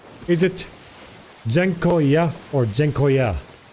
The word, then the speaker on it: dziękuję: Like, is the end longer or is the middle longer? In Dutch ambulance, the C is pronounced like Z. Dziękuję. So, dziękuję. Dziękuję. Not dziękuję. Second option. Dziękuję. With a long end.